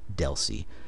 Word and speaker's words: DLCI: link connection identifier or Deli you'll see dlci almost everybody I know that I've ever heard say this pronounces it Deli rather than sounding Out each letter of the abbreviation and the number of